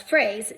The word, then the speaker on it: phrase: So for a phrase, the way you spell it is PH. That phonogram, PH, says F, which everyone, when you hear F, you think it should be spelled with an F. So I always remember that it is not an F sound. It's not an F that spells phrase, just like a phrase